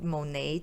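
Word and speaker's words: Monat: anti-money han anti-monetan monehan monet is a lot easier to say than monet but i just recently found out that monet is the way to correctly pronounce it so and then she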